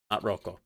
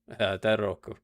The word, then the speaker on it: Daidoraku: Daidoraku, not Roko. Not Rako. Daidoraku.